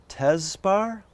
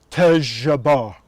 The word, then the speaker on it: Tejaba: And so I tried to repeat it. I said, "Tezbar?" He said, "No, Tejaba."